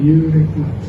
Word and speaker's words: euritme: Itu sudah ada Rudolf Steiner bilang euritme bacanya euritme.